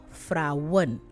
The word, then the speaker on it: vrouwen: So vrouw, vrouwen. Vriend, vrienden. Maand, maanden. Fiets, fietsen. Trein, treinen. So once it's more than one, they add en to the word and pronounce it that way.